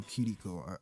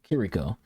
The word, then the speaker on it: Kiriko: But him, a lot of people just call her Kiriko. He called her Kiriko. So he's pronouncing the R in the name with the same kind of pronunciation that they would have in Japan, essentially.